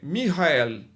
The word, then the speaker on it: Michael: E no hebraico a pronúncia é Michael, tá certo? No no no português a gente fala Miguel, tá? Mas o o a pronúncia em hebraico é Michael.